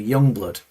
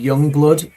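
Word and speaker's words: Yungblud: If you want to, if you YouTube Youngblood, and it's spelled Youngblud, Youngblood "Changes" from Back to the Beginning.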